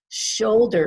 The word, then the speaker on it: shoulder: Shoulder is 2 syllables, and we stress the first syllable, shoulder, not shoulder, shoulder.